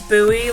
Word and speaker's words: Bowie: A lot of people pronounce my last name wrong when they see it. They pronounce it Bowie or Bowie. It's Bowie, like Bowie, Maryland. Bowie, like the water, like the thing in the water, the buoy.